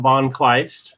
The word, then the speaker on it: von Kleist: So anyway, so everybody, we've got von Kleist, right? I pronounced your name right, correct?